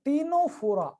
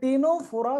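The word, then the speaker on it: Ctenophora: Number 3 पे आते हैं दोस्तों, टीनोफोरा, सी is silent here. ये टीनोफोरा, सी is silent here.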